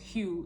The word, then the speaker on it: Hue: It says, go intonation and sing Hue, pronounced Hue, H-U-E.